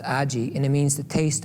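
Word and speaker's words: 味: And you don't really, there's a word in Japanese, A-G-I, it's pronounced aji, and it means the taste of clay.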